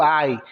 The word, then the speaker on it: I: o eu que é o i escreve a letra i mas pronuncia A como se estivesse sentindo uma dor mesmo I acabei just o J